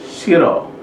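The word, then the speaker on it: 싫어: maka dia berbunyi er jadi Siro ini bacanya adalah Shiro Shiro artinya tidak suka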